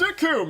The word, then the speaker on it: Recoome: It's like, my name's Recoome, it rhymes with doom, and you're gonna meet yours all too soon.